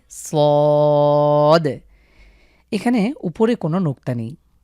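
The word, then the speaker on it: ص: total ছয়টি হরফ রয়েছে প্রথমে হলো সদ একটু মোটা করে মুখ ভরাট করে সদ এখানে উপরে কোন নুক্তা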